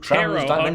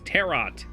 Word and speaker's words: tarot: world cards that move TR you're not pronouncing the te it's terot to be honest I